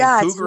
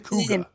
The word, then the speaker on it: Cuga: See, I'm not saying cougar, I'm saying Cuga.